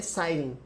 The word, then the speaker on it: citing: Cite. É site mesmo. Site. Cite. Site. Então é citing, tá, gente? Quando você tiver alguma dúvida, faça como eu. Procure a pronúncia da palavra, mas é citing mesmo.